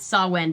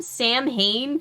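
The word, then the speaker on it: Samhain: um supernatural where they deal with sawin but they call him sam hayne for the entire show and whenever my mother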